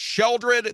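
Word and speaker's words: Sheoldred: came out, and it's Sheldred the Apocalypse, and it's pronounced Sheol. It has the same vowel layout as Realm of Sheol or Sheol.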